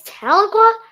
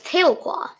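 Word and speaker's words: Tahlequah: It's Taloqua. I always thought it was Tailqua. Oh, I guess it's Tailqua or Taloqua. Wait, I already forgot how to say it. Taloqua.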